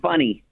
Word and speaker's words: Fanny: And then Funny Arendt. Okay, I thought you said funny. Funny as Funny? It's spelled Fanny, but in Europe, F-A is like you.